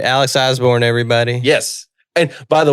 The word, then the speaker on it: Osborne: there is an e there's a silent e at the end too so it's it's all